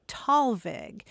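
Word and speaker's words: Thalweg: uh it's usually pronounced talvig and it is a combination of two German words and let's dispense with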